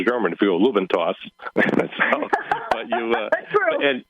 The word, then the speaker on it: Lube N Toss: And then I found that when people were pronouncing it, they didn't annunciate the letter D. So it sounded like lube and toss. So that's uh so I decided to go with the lube n toss.